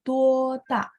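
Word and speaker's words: 多大: Kalau misalnya berapa besar atau usia berapa, kita akan bacanya tuota.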